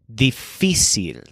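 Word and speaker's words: difícil: word for difficult is difficile so it sounds like the word difficult but the stress is on fee difficile on the right side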